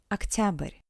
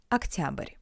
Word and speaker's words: Октябрь: Октябрь. Октябрь. Remember that the unstressed O sounds as A. Октябрь.